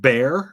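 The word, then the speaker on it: Bexar: Oh, do you just pronounce it Bear? I always thought it was Behar for some reason. Bear, okay. Yeah, I need to get back to San Antonio.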